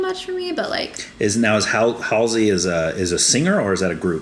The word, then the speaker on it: Halsey: It's Halsey.